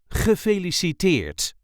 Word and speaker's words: Gefeliciteerd: This is the way we say Gefeliciteerd. Gefeliciteerd. There is a light emphasis on the last syllable.